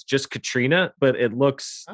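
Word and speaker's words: Caitríona: strangely it's how you would assume people would mispronounce it which it's just katrina but it looks like very complicated not katrina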